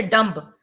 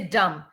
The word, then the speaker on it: dumb: you see some examples silent b is silent dumb you don't say dumb you say dumb climb comb limb thumb